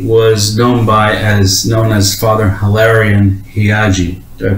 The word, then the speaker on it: Heagy: So without further ado, I have with me Brother Said Abdul Latif, who formerly was known as Father Hilarion Heagy. Did I pronounce that right? Heagy.